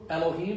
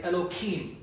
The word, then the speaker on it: Elohim: say let's say God like in Hebrew Elohim they'll say enoki you don't deliberately mispronounced it at the time of